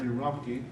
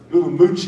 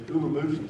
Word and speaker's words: Urumqi: minority group there in Urumqi. Ulamuchi is how it's actually said. When you look at it, I say Urumqi, but it's Ulamuchi is how they say it.